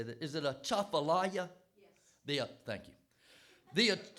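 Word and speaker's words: Atchafalaya: I know how you say that is it a chaala yes the thank you the I should know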